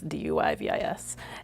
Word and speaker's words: Duyvis: by a writer named Corinne DeVice, I believe is how you pronounce her last name. And It's Duyvis.